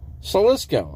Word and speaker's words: Slisko: You're pronouncing it wrong. Salisko. I'm pronouncing it right. I mean, it's my name. I should know how to pronounce it right.